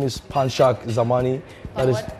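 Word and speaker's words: Panshak Zamani: gymnastics are you happy my real name is panchak zamani that is spelled p-a-n-s-h-a-k zamani is z-a-m-a-n-i I'm from Jaws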